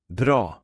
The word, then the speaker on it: bra: And now for the long pronunciation with the Swedish word for good. Bra.